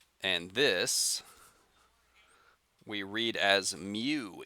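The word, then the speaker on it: μ: tail in front uh that you pronounce mu let me write that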